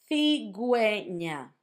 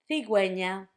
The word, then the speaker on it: cigüeña: That's if you want for the U to have a sound when you have gegi.